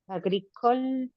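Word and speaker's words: agricole: ¿Qué rosario es under inter vital le comer agricol agricol agricol agricol ¿Cómo está ahí? Agricol. No pronuncias la e final.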